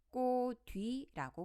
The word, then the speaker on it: 꽃 위: 명사 위라는 단어가 붙었습니다 이랬을 때 우리는이 단어를 꼭 뒤라고 발음해야 합니다 어떻게 꼭 뒤로 발음 되는 걸까요 자이 경우에는 호받침 치읓을 먼저 음절의 끝 소리 그치게 따라 디귿으로 바꿔줍니다 그 다음 디귿을 긴말의 첫소리로 여늠해 줍니다 그럼 꼭 뒤가 되는 것이죠 한 번 더 연습해